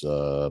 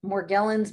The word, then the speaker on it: Morgellons: ways already it seems seems like the physicians and that are treating it and the scientists that are researching it pronounce it with the soft g the more gelens and